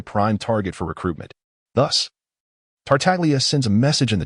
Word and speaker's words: Tartaglia: And by the way, my name is Tartaglia, not Dada Duck.